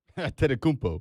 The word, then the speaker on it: Antetokounmpo: You are pronouncing Giannis's last name better than you pronounce your own. Antetokounmpo.